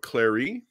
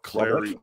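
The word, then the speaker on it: Clari: and then also i used a rubber of clary and let me show you the spine here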